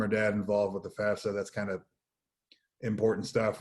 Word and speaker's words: FAFSA: to check out the fafsa notice it is fafsa not fafsa that is one of my pet peeves pronounce it right um it becomes available